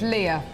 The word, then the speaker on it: Leah: oh sorry have I I called you it's Leah oh no got your